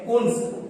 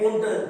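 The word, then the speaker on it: Koontz: अगली जो परिभाषा लेकर के आते हैं वे है कुंस, या कुंस भी कह सकते हैं, कुंट भी कह सकते हैं, क्योंकि इंग्लिश नाम है तो कहीं ना कहीं प्रोनाउंसिएशन में कुछ ना कुछ दिक्कत रहती है।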